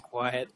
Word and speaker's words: Kwiat: My name is Quiet. I am honored. I'm sorry to have mispronounced your name. Oh, no, it's spelled K-W-I-A-T, spelled Q-U-I.